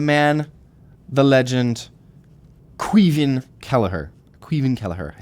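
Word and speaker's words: Caoimhín Kelleher: I've got the man the legend quen kellerer quen kellerer I said it right yes yes quen kellerer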